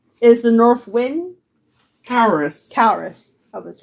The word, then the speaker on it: Caurus: and I'm pretty sure I'm mispronouncing it, but Caurus is the north wind. Caurus. Caurus.